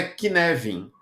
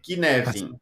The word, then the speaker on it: Cynefin: mas a pronúncia é k nevin É como se você Trocasse o c por um k e o f por um v k nevin é assim que você